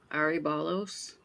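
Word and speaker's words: aryballos: It says Aribalos. Aribalos. It's like ARY ball and OS.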